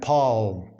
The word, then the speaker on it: palm: So no and palm. So it was like kno and palm. Kno and palm. So k was pronounced previously.